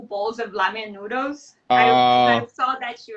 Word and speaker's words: ramen: They spell it with an R. Yeah, but we use our teeth when we pronounce it. It's ramen.